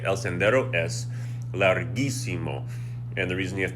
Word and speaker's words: larguísimo: So we're going to do that to keep the G sound.